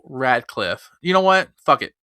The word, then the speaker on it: Radcliffe: All right, so moving on to our next topic, it looks like Wackliffe. Why do I always mispronounce his fucking name? Daniel Radcliffe.